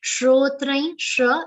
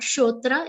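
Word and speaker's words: श्रोत्र: not at all difficult shrotrain and not shotra it should be shrotra sarkar is pronounced like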